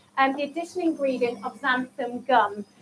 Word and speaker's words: xanthan: the addition ingredient of xanthan gum so it begins with an x it doesn't necessarily sound as it's spelt and but you just